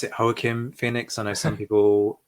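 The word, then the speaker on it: Joaquin: Um so, I pronounce it Hokim Phoenix. I know some people um pronounce it Wackin Phoenix. Yeah. Um, I'm going with the Spanish pronunciation and I'm sticking with it.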